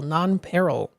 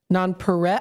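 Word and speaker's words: nonpareil: Non-p peril.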